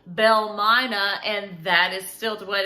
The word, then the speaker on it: Belle Mina: see mama them and it sort of became phonetically called Belle Myna and that is stilt